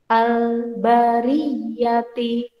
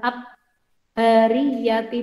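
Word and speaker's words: البرية: Ada al bertemu huruf ba. Bacanya al-bariyati. Bukan ab-bariyati, bukan. Tapi al-bariyati.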